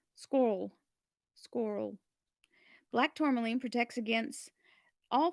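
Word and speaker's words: schorl: So black tourmaline, also known as scroll, it's spelled SCHR, so squirrel.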